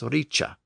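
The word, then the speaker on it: rīc: Native Old English words the C was being pronounced with a CH sound to reflect the assimilation which Old English had experienced so a word like r i c was being pronounced as Richa but sometimes the C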